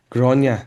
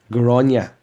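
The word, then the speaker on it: Gráinne: Oh, this all started because there was a girl called Grania, and you were like, is her name Granny? Yes. Grania, spelled Grainne. Grania. Technically, it's G or A Fada Inne.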